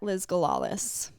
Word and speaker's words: Liz Galalis: You can find me on social media across all platforms at Liz Galalis. That's spelled LIZGALALIS. Like gala? Gala like a party, Lis like lisp without a P.